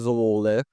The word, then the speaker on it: Zwolle: right now, which is Zwolle. Actually, the correct pronunciation is Zwolle. In Netherlands, they call it like this.